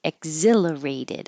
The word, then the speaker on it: exhilarated: of a an e exhilarated e you won't hear the K the k your tongue will go to the K position and then block the air flow exhilarated I felt exhilarated magnet animous magnanimous she